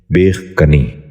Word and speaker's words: بیخ کنی: یہ غلط تلفظ ہے، اس لفظ کا درست تلفظ ہے بیخ کنی۔ دوبارہ سنیے، بیخ کنی۔ بچوں آپ بھی غور سے سنیے، بیخ کنی۔